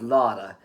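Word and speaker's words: लौड़ा: Ben ke loda. It is spelled loda but it's pronounced lara.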